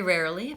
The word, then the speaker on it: rarely: you good suggestion very rarely Pascal was saying is very difficult sure we're moving from a very to rarely and there's a two R's and an Ellen that word rarely so something that Americans